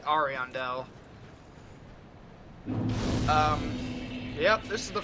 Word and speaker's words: Ariandel: out of the cave we enter the painted world of ariandel at least that's how the npcs say it but i've always pronounced it ariandel um yep this is